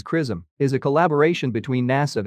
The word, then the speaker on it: XRISM: mission's primary payload the X-ray Imaging and spectroscopy Mission pronounced as kism is a collaboration between